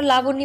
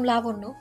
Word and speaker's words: লাবণ্য: ধ্রুবর চোখে চোখ রেখে বলল, আমাকে আর কক্ষনো লাবণী বলে ডাকবেন না। আমার নাম লাবণ্য। পরেরবার নাম উচ্চারণ করার সময় সাবধানে উচ্চারণ করবেন।